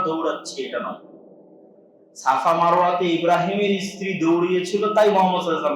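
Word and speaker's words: Ibrahim: ওরা এই গর্বেই ওদের দিন পার হয় যে আমরা ইব্রাহিমের সন্তান। খ্রিস্টানদের কাছেও তাই। এই জন্য দেখবেন যে তারা ভালোবেসে শখ করে ইব্রাহিম আলাইহিস সালাতু ওয়াস সালামের নামে তাদের সন্তানদের নাম রাখে, যেটা ইংরেজি উচ্চারণ হচ্ছে আব্রাহাম।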